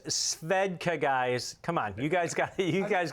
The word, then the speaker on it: Svedka: little bit uh from that yeah and it's pronounced svedka guys come on you guys got you guys